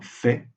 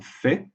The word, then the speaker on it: fait: D'habitude, on ne prononce pas le T dans fait, c'est un fait, mais dans l'expression en fait, oui, on le prononce.